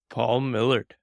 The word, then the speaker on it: Paul Millerd: if not irrationally concerned that I'm saying your name wrong so say your name for me first and foremost Paul Millard all right this is great so I wrote